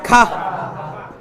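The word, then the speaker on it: کھا: দেখেন দুইটা উচ্চারণের মধ্যে আকাশ পাতাল তফাৎ। এটা উচ্চারণ হচ্ছে কাহা, কি উচ্চারণ? কাহা। আর এটা হচ্ছে খা।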